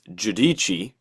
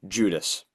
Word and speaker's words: Giudici: It's actually Italian. It's Giudici. Giudici. Yeah. Okay, But dash one for me. in American English they just say Judas.